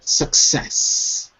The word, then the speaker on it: success: is that it yes success success that's it second syllable success success okay okay it makes